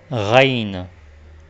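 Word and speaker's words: غين: et elle se nomme rain rain leçons de la lettre qui est qui ressort et qui sera associé au son des raquettes c'est comme le r en français c'est comme tu prononcer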